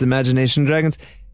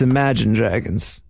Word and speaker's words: Imagine Dragons: of people out there who think it's imagination dragons it's imagine dragons you could keep that extra syllable to yourself esra if you were